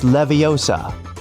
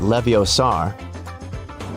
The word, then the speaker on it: Leviosa: Hey Siri, it's Leviosa, not Leviosar. Measure app.